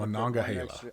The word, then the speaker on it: Monongahela: You got Monongahela. I know your twang wants to cut syllables. You got to put an extra syllable in there.